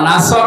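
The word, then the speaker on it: نصر: নুন সোয়াদ র, নাসর মানে সাহায্য, আর নুন সিন র, নাসর মানে ঈগল পাখি। এই জন্য তেলাওয়াত যখন করবেন সোয়াদ উচ্চারণটা মুখ গোল করা লাগে।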